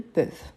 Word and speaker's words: peuvent: Donc, attention surtout à cette prononciation-là. Ils peuvent, ils veulent. Peuvent, veulent. Ici, on reprend donc la base du singulier. EU. Donc, c'est pour ça qu'on a ces sons plus ouverts.